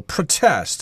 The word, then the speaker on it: protest: English although I believe in British English they will stress the second syllable protest I'm going down to the presidential palace to protest the government's educational policy